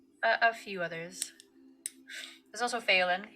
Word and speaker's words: Phelan: There's also Phelan, who was, which always sounds like Faywin, but it's spelled very differently, who was originally part of your clan, obviously.